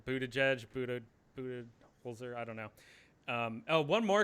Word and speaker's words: Budenholzer: And I think it is Budenholzer, not Budenholzer. I've been pronouncing it wrong. Budenholzer, I don't know.